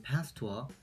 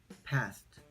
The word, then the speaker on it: past: P와 F 발음을 구별하는 예시 중에는 과거를 뜻하는 past와 빠르다를 뜻하는 fast가 있습니다. past, past, fast, fast.